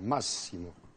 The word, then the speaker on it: Massimo: Sur la première syllabe, Massimo. Massimo. Et pas Massimo.